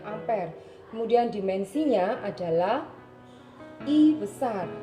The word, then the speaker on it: ampere: satunya adalah a ampere bisanya hampiri Tapi bacanya ampere kemudian dimensinya adalah I